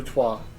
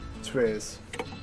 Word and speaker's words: trois: Un, deux, trois. Un, deux, trois. Not un, deux, tres.